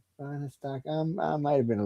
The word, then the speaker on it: Fahnestock: It's FAHRESTOCK. That's how you say it. FAHRESTOCK.